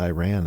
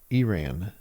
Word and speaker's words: Iran: get up mad today cuz somebody was saying Iran and it's actually it's it's not supposed to be pronounced Iran. It's supposed to be supposed to be pronounced Eran.